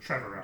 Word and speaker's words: Trevorrow: but I feel like Trevo, is that how you say it? Colin Trevorrow. Like Trevorrow. Tomorrow, but Trevorrow. With Trevor.